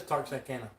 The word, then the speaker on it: Texarkana: I thought it was Texarkana. It is Texarkana. Yeah. So many Washingtonia different says, pronunciations.